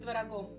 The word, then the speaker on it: творог: Съел молодец 33 пирога с пирогом, да все с творогом. Съел молодец 33 пирога с пирогом, да все с творогом. Вот, кстати, в этой скороговорке правильное ударение на слове «творог».